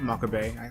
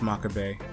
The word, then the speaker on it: Makabe: Maka Bay. I'm saying Makaba because that's how it's spelled, but it's Maka Bay.